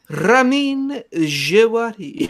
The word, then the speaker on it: Ramin Djawadi: Ramin Djawadi. Yeah. Ramon Javadi is actually the way you properly pronounce it, but we will be talking about that.